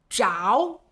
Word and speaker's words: 着: 着，当它表示接触、挨着这个意思的时候，还有一个读音是着。